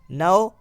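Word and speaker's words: know: जाएगा i do not फिर के no-9 साइलेंट रहेगा नो आई डोंट मिडविकेट और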